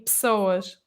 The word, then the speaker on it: pessoas: Porque pessoas, o que acontece é que temos uma vogal muito pequenina, que é um "e", entre duas consoantes, e Uhum. é numa sílaba que não é a sílaba tónica.